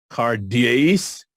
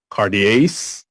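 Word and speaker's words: καρδίαις: in the sinners cuties cardias Cartier's the accent notice is on the second syllable cartierce indicates that we are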